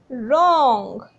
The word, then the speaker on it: wrong: इसमें भी आप देखेंगे कि हम W की साउंड कोई नहीं आ रही है, हम र से स्टार्ट कर रहे हैं, रॉन्ग.